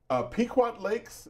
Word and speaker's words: Pequot Lakes: So, let's talk to Tom, who's calling from Pequot Lakes, Minnesota, on the Republican line. Tom, did I pronounce the name of your town correctly?